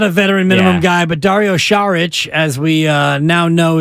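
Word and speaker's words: Dario Šarić: Lopez he's not a veteran minimum guy but Dario sharich as we uh now know is the correct pronunciation is uh that's the guy who might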